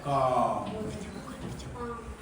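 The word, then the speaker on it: calm: तो यहाँ पर एल क्या है, एल जो है साइलेंट है। समझे नहीं समझे? एल क्या है, साइलेंट, चुपचाप। तो इसलिए इसको क्या बोलना चाहिए, कालम बोलना चाहिए, नहीं बोलना चाहिए, बोलना चाहिए ना।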